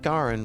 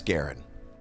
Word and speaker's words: Garen: I keep going to Garin because it just you read a lot of Japanese stuff and then you start getting hung up on the Japanese pronunciation. But I am pretty sure that's Garen.